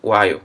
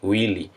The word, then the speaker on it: while: que esse while tá então falem while não falem Will é Wi e Wi tá falem o a a pronúncia correta do do laço tá